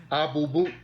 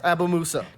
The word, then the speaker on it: Abumusa: Abubu. It's Abumusa. How you say it again? Abumusa. Abubu.